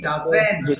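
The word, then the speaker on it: doesn't: খাও না হি ডাজেন্ট এটা কিন্তু অনেকে ডোন্টস বলে উচ্চারণ হবে কি ডাজেন্ট ডাজেন্ট হ্যাঁ তাহলে হি ডাজেন্ট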